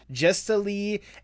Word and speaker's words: Jestalee: for the audience or whatnot, and like just pronouncing names in general. Correct me if I'm wrong. It's Jestalee and Beelzebeebox, correct?